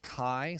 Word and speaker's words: chi: But chi-squared, and again it's pronounced chi, sort of like if you were to spell the word kite, chi. Or to say hi to someone, hello, hi, put a cuss sound in front.